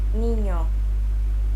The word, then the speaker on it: niño: One trick to pronouncing this sound is by saying the word onion, Onion. or canyon. Canyon. It kind of sounds like a combination between an N and a Y sound, doesn't it?